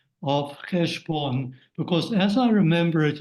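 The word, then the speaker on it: חשבון: Chesem. Okay. Yeah. Yeah, that's right. Cheshbon is in Hebrew, but in Yiddish you say it like your Chesem, family yeah.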